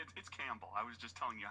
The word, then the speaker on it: Campbell: Campbell. I was just telling you how to spell it. Oh. It's Campbell, like the soup.